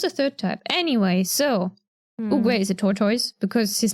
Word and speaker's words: Oogway: Next character, Oogway.